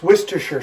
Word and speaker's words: Worcestershire: That's Worcestershire sauce.